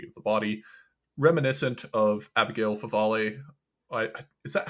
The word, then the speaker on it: Abigail Favale: JP2 style theology of the body, reminiscent of Abigail Favale. Is that how you pronounce her name?